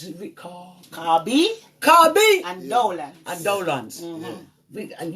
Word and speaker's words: Carbi: Even though you and, listen, how do you pronounce it? CARBI.